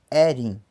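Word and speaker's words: ẹrin: O número 4 pronuncia-se erin. Erin. Tá? Quando ele está dentro de um contexto, coloca o M. Então, merin.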